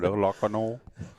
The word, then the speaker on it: Lacanau: You're all right, Lacanau.